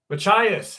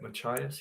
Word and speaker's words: Machias: Machias, how are you? No, that's not how you say it. Machias?